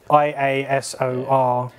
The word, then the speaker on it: Iasor: The Yasor, however it's pronounced, Yasor. it's Iasor. Yeah, I suppose I'd never expected it to be pronounced that way, but I suppose it is, yeah.